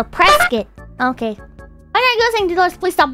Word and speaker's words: Prescott: I've never been the Prescott Arizona actually Prescott oh man I feel bad doing that because it annoys the hell out of me when I see other people do it okay so press it okay okay let's please